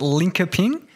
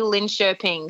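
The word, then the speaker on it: Linköping: saying it wrong but no it's actually lin chirping so it's sort of it's like yeah it's the k turns into a sh sound oh yeah so how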